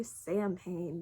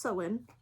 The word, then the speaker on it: Samhain: years that i was pagan so i say sam payne because i was ignorant for the first like